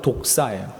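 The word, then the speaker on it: δόξα: 영광이라는 단어가 헬라어로 독사예요. 독사, 많이 들어보셨죠? 그 뱀 있잖아요, 뱀. 그것과 똑같습니다, 발음이. 독사.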